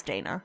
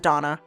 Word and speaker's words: Dana: i don't like that it's dana it's d-a-n-a but they pronounce it donna i don't know why um beautiful game yeah